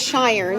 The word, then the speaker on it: Schirn: Yep, it is Schirn. Wow. So it's German, and so that SCH blends for the SH sound.